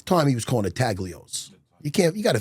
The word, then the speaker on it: Taglios: And he goes, "Look, you got to try at the time, he was calling it Tagios. You can't you got to forgive them." N G is silent like lasagna.